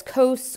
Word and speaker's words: cos: adjacent divided by hypotenuse the symbol for that is going to be cos again we still pronounce that as coasts or cosine and again notice that